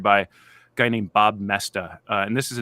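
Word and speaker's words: Moesta: who take notes mestas it's hard to spell pronounce this it's it it's m-o-e-s-t-a it's actually not hard to spell but the spelling doesn't look like the pronunciation Bob messed up on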